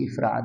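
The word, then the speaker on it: إفراد: होता है और एक इफराद होता है लोग इसको गलत प्रोनाउंस करते हैं। इसको अफराद पढ़ लेते हैं।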